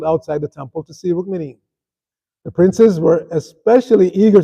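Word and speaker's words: Rukmini: We mis we mispronounced her name. It's not Rrookmini. She's not a meanie. It's Rrookmini. Everybody say Rrookmini.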